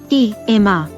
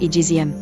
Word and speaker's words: eczema: in x e m miam Webster and my own personal experience with American English suggest pronouncing it egm Cambridge dictionary online lists the pronunciation as E.M and provides audio of English and American pronunciation I just took an unscientific poll of North American professional actors read searched the web for exema commercial and eczema zm/ was the most common followed by the similar eczema km/ I hadn't